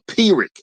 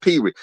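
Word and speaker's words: Pyrrhic: Okay, so it's it's pronounced a pirick. It's pronounced pirick.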